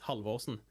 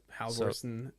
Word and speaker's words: Halvorsen: of Norwegian, Viking language, it's Halvorsen. Oh, Ah. wow. Oh. So, yeah. But Halvorsen, Halvorsen, however you guys